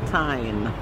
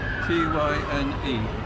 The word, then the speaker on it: Tyne: Oh, today we're at Newcastle upon Tyne.